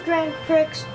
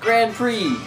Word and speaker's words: Grand Prix: I told you was Grand Pricks it's Grand Prix it's pronounced Grand Prix this just yeah yes it says it's spelled like that but it's pronounced Grand Prix my T childhood is